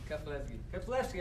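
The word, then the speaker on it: Keflezighi: Pronounce that for me again. Keflevsky.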